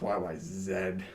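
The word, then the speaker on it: YYZ: that's cool yeah and it's pronounced y y zed that's how you say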